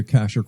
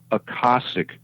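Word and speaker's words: Akashic: So you're talking about the Aashic records. Well, yes, in a sense. Uh Joe always told me to pronounce it differently.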